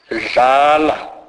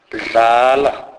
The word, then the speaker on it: dlala: DL is pronounced as this is a fully voiced sound. It is a merging of the normal English D and L sound, e.g. dlala, dlala, which means play.